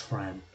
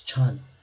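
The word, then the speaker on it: Trần: Everyone calls me Tran. It's not Tran, it's Chun.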